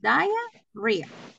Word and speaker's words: diarrhea: stach and diarrhea okay in this one we pronounce it diarhea diarrhea diarrhea yeah stomach age and diarrhea s